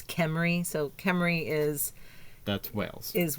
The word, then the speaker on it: Cymru: the proper way or the Welsh way to say the city? And it's Cymru. Cymru is... Wales. Yes. Wales, yes. So it's like the Toyota Camry, but it's instead of Camry, it's Cymru.